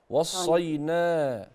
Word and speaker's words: وصينا: وصينا به وصينا به يعني منطقش الالف لا فيها الف بعد النون انت بتشيلي الالف وصينا وصينا ماشي نعم وما